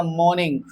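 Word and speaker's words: morning: आपको बोलना पड़ेगा मॉर्निंग। मॉर्निंग मतलब कि यहां पे जो आर होता है ना like are is silent here. Are यहां पर साइलेंट होता है।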